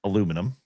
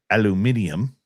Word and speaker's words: aluminium: And not aluminum, or as the Brits say, aluminium.